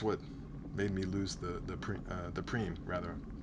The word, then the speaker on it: prime: Well, that's what made me lose the preem rather. Prime. Did I say prime? Preem. Spelled prime, pronounced preem.